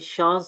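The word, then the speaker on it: Chance: एच एट the beginning of loan words is pronounced like English S एच, ठीक है, शाह की तरह, एज इन। अच्छा, अब ये शांस से, ठीक है, ये हमारे पास जो है वो फ्रेंच वर्ड है चांसेस के लिए।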